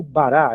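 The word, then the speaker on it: בָּרָא: Por exemplo, aqui a palavra bará, p a r a e o alf no final, esse alf é da raiz do verbo, não tem som nenhum, vai ser considerado como bará, é sílaba aberta.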